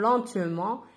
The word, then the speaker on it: lentement: هنا سي با ان فيرب ان مو lentement. هنا نطقوها ان او ان تي نطقوها ان lentement.